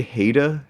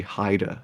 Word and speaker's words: Haida: Like, I say Haida if you see, but it's actually Haida. It's Haida.